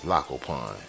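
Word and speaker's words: Tlacopan: That's a silent T right there. That's Lacopan.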